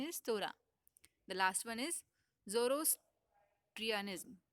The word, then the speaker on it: Torah: Okay, the pronunciation is Torah.